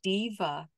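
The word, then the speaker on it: Deva: You are welcome to call in the diva of your health. Diva is spelled D-E-V-A.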